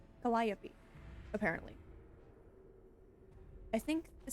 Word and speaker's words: Calliope: I've been told it's Calliope is how to pronounce that.